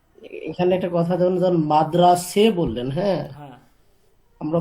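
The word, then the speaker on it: مدرسه: না, এটা মাদ্রাসা ওই ইতে ফার্সিতে মাদ্রাসে হয়, সে এ উচ্চারণ হয় মাদ্রাসা, ঠিক আছে? মানে আমি শব্দটা যদি জানি ফার্সি তাহলে উচ্চারণটাই এটা, হ্যাঁ হ্যাঁ হ্যাঁ হ্যাঁ। মাদ্রাসা না মাদ্রাসে, ঠিক আছে?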